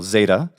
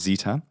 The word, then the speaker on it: Zeta: followed by the letter which we call Zeta in English or sometimes Zita and this in the attic